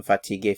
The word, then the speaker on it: fatiguée: The pronunciation is the same, fatigué, fatigué. However, for the feminine singular, I have to add an e to indicate the feminine singular form.